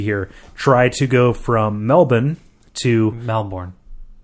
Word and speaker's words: Melbourne: try to go from Melbourne to Melbourne Melbourne Melbourne Melbourne that's that that's how they say it okay okay yes